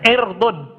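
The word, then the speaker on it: عِرْض: Ini sama tulisannya ain ro dod, cuma bacanya ainnya di kasro. Ya, irdun.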